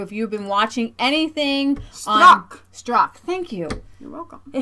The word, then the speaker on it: Strzok: The FBI investigator who, if you've been watching anything Strzok.